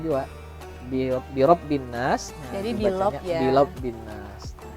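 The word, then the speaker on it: بِرَبِّ النَّاسِ: Nah jadi intinya membacanya birobbin nas, ro-nya kayak ke huruf lam.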